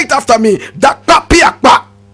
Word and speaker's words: Dakpa Piakpa: Now he got his name Jakpa from the original word Dakpa Piakpa. You want to hear it again? Dakpa Piakpa. Students, let me hear it. Say it after me. Dakpa Piakpa. Dakpa Piakpa.